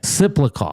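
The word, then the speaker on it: Tsyplakov: Don't try to pronounce the T. Now they're going to, Slipikov.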